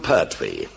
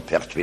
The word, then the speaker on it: Pertwee: And nobody could pronounce the name properly, Pertwee de Layevo, Perthuis. They couldn't pronounce it, so the illiterate English pronounced it Pertwis. So it was duly changed to Pertwwe.